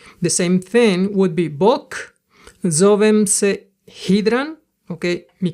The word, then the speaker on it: bok: So you can see that when I say bok, I don't pronounce the K explosive, and that's why it gets like a G instead of K, because I've heard people pronounce it that way.